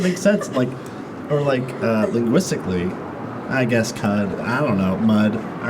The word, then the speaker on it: Cudi: That was Cudi. Like Kid Cudi. You're joking right now. I'm not joking. I thought it was like I got cootie, you know, like cooties.